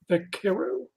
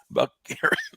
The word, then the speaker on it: Vaquero: How do you pronounce that name? Vaquero. Vaquero.